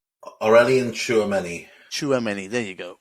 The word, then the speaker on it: Tchouameni: It's I can't even pronounce his name. Tchouameni, is that right? Aurelien Tchouameni.